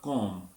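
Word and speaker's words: comb: होगा टॉम और कब और बी साइलेंट हो जाएगा कॉम यानी कंगी और दी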